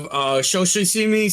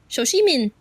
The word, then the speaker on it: Shoshimin: Going next on the list, we have Shoshimi Season 2. I said that name wrong. Graham is going to kill me for it. Shoshimin. Yes, that one.